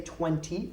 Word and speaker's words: twenty: little bit more noticeable I don't pronounce the T okay I just pronounce it with like an N 2020 okay I don't say 20 I say 20 20